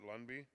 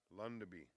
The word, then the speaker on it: Lundby: excuse me lundby pat lundby number 107 of 50 by 48 and it's i'm pronouncing this name wrong again it's pat lundabee and it's called bob and weave number 107.